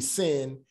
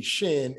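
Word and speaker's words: ש: on the left corner, then it's gonna be sin. If it's on the right side, then it would be shin, and that would be SH. But when it's on the left-hand side, it pronounces an S as in sit, all right?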